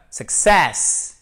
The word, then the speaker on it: success: parades hockey ensuite alors c'est pas success ce n'est pas le succès c'est la seixas et oui là ce qui fait toute la différence vous l'avez compris c'est l'accent tonique qui est sûre cette seconde syllabes vous avez ici un